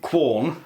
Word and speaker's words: Quorn: So the filling for these is made by Quorn, or some people pronounce it corn.